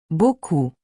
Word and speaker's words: beaucoup: Beaucoup. The P is silent.